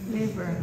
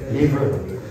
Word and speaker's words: laver: Liver. The liver. The lever. How do you pronounce it? Liver. Labor, not liver.